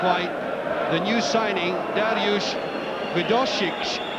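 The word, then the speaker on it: Wdowczyk: the new signing, Dariusz Widosic. I do believe that is how you pronounce his name.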